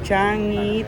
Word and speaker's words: Changi: kailangan palang magfa out paano po pronunciation changi changi changi kuya changi okay changi pala changi mo minsan walang Go. Changi Changi. Ayan na. Changi hindi changi.